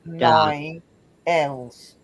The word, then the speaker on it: Daniels: So it's da is the first syllable. Daniels.